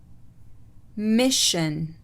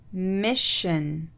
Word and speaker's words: mission: السلسلة SION تلفظ شن إذا سبقت بحرف ساكن، والحروف الساكنة اللي برضو شرحناها في البداية. Expression. Expression. Mission. Mission.